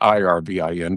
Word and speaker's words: Irvin: I spell it I R V I N, but it's pronounced the same way.